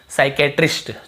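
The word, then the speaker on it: psychiatrist: तो देखिए एस से पहले पी, ये तो आपको पता ही होगा, पी साइलेंट। स्टार्टिंग में पी लिखा हुआ है लेकिन हम पी को पढ़ते ही नहीं है।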